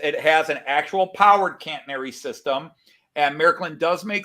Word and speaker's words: catenary: track um but yes they have a cantenary or as the british say catenary system and um